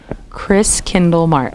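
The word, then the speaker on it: Christkindlmarkt: You say it like it's spelled, Chris Kindlemart. Chris Kindlemart.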